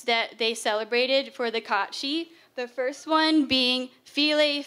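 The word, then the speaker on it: cat-sìth: So the Celtics, if you don't know, that's Scotland area, and they worshipped a fairy creature called the Catshi. So that's the correct pronunciation, Catshi.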